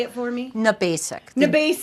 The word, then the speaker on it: Gnabasik: Gnabasik. Gnabasik. The G is silent. It's Polish.